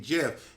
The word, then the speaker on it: GIF: Plus, the word is literally hard G. Graphic. Thank you. Okay, in graphic it's G, but when you spell it, for example, in giraffe, it's J. So just because it stands for G in graphic doesn't mean it stands for G in GIF.